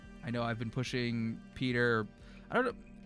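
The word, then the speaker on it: Piotr: Um, so now it's funny where like even though I know it's spelled or it's pronounced Peter every time, um, I always say Poder because of those two friends that I had.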